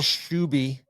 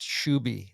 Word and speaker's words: Shouy: And uh Will Shouy reached out and said his name is pronounced Shouy, not Shou.